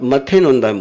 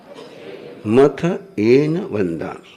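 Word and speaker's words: मत्थएण वंदामि: आप मथे नोंदाम बोलते हो, क्या बोलते हो? मथे नोंदामी। शब्द क्या है? मथ ए नोंदामी। क्या शब्द है? मथ एन वंदामी।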